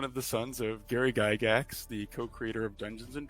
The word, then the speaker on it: Gygax: pronounce well your surname, Gygax. Okay. Yes, that's right. It's Gygax is correct. Perfect. It's a Swiss name, so in Switzerland it's pronounced Gygax. Gygax, yeah. But the Americans say Gygax.